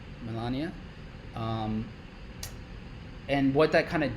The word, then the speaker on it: Melania: Melania? Melania. And what that kind of did. So I do want to go over that because that was really interesting. So here's my take on Trump coin and Melania coin.